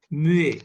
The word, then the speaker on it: muet: No pronunciation at all. So it will remain silent. For silent in French, word is muet.